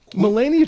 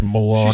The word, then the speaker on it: Melania: with ianka trump it melenia Trump is like she's not even American she's from it's Melania Slovenia it's pronounced milania she speaks like six